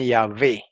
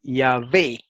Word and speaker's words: Yahvé: sí utilizó la beta, porque parece que algunos judíos ya para ese tiempo pronunciaban Yahvé. Y entonces, como en griego no existe la V, él lo escribió con beta, como lo tenemos aquí en español en este documento, Yahvé.